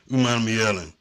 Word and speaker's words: Umanmielen: Lane Kiffin and Prince Umanmielen. And yeah, I ain't scared to say that name. It's a big name, but it sounds like it's spelled.